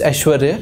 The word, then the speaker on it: Aishwarya: prominent among female candidates but my pronunciation is aishwarya yeah yeah yes sir